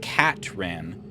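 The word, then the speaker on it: Katran: bit and she said actually my name is catran k a t r a an and atus couldn't pronounce it and kept saying Catherine and then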